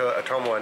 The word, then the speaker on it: Ottumwa: We are heading to Ottumwa now.